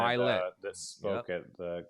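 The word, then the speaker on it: Ed Mylett: I got a quote for you from this is Ed Millett, right? Did I say his name right? Ed Milet, he's the one that Milet.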